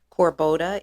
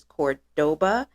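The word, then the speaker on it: Córdoba: my last video incorrectly instead of corboda it is Cordoba so I thank you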